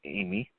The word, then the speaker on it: Ami: all time the Jukebox named Amy pronounced Amy is well spelled Ami pronounced Amy is Quinton Tarantino Z